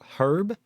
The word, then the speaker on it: herb: the most learning resources the H in herb is pronounced by the way what her herb I don't it's weird for me to say the he like heart herb I know it's like